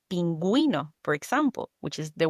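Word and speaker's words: pingüino: So, the best example, friends, to remember is the word penguino. Exactly. Just remember the little cute penguin needs you to pronounce the U.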